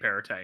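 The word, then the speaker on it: Perrottet: sorry his name's dominic perite in case you weren't sure who we were referring to all this parrot's head no you don't pronounce the tea the last one soft soft yes um the new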